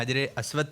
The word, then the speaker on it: حجر اسود: اب دیکھتے ہیں حجر اسود کے پیچھے کیا سوال ہے. اس کا صحیح تلفظ کیا ہے؟ حجر اسود. کیا ہے؟ حجر اسود. حجر اسود نہیں, حجر اسود.